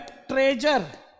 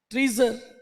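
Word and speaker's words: treasure: TRE का मतलब क्या है, ट्रे, और TREA का मतलब क्या होता है, ट्री, ट्रीजर। लेकिन ट्रीजर नहीं बोलते हैं, क्या बोलते हैं, ट्रेजर, खजाना।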